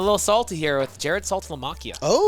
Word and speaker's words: Saltalamacchia: I'm going a little salty here with Jared Saltalamacchia. Oh.